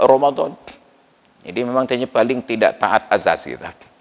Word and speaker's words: Ramadhan: sampai satu saf sedangkan Romadhon memang tertulis ra m a d a n Ramadhan tapi dibaca Romadhon jadi paling tidak taat